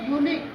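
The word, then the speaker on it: unique: Union, UNIQE, देखो यहाँ पे आई आ गया इसलिए इसको पढ़ेंगे यूनिक, यूरिनल ना, यूरोपियन, URO, आर के बाद क्या आ गया, ओ, वोवेल है इसलिए इसको पढ़ेंगे यू।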